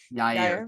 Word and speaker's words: Yair: Yair. I always say it wrong. Yair. Yair.